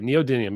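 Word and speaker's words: neodymium: you say your name neodium okay neodium yeah that's the right way neodium I don't know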